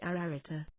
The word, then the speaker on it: Ararita: a triple and double repetition this word is pronounced ararita the virtue of the septenary is absolute in